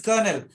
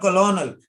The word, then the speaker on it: colonel: says lieutenant, okay, colonel, pronunciation is colonel, but if you don't know the spelling, how will you write? C-O-L-O-N-E-L, colonel. It's not colonel, it's colonel, R, colonel, R silent, colonel.